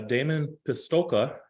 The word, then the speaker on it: Damon Pistulka: am the green executive um I have uh Damon pistolka did I pronounce that right Damon yes you did thank